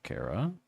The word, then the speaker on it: Chara: So you don't pronounce the H because it's a character. Kara.